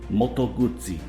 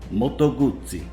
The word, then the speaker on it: Moto Guzzi: ducati in italian ducati and here's the proper way to pronounce moto guzzi moto guzzi moto guzzi you heard it straight